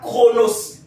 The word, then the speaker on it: Chronos: le premier type de temps ils appellent ça chronos j'aimerais que tu notes tu vas bien comprendre